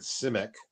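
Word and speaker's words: Simak: Actually, Ira pronounces it the way Clifford Simic. It's Simic. That's how Clifford D. Simic pronounces it.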